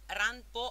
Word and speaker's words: Ranpo: Infatti Ranpo è la pronuncia giapponese di Allan Poe, Ranpo.